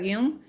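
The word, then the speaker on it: Jung: No sé si han leído o han escuchado, seguramente sí a Car yung eh, otros le dice Yang. Yo tengo entendido que se pronuncia y un es muy interesante lo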